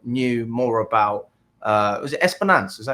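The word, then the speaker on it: Espérance: But then speaking to other fans that knew more about, was it Esperance? Is that how you say it? Esperance. Yeah, Esperance.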